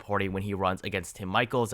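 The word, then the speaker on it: Michels: when he runs against tim michaels i've been told that is the pronunciation and if you look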